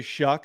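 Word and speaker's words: Shough: h o u g for some reason the commentator say shuck and I'm yet to figure out why they say that okay Texas Tech quarterback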